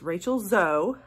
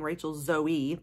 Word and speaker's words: Rachel Zoe: say her name right it's Rachel zo I was saying Rachel zoee before uh but anyway so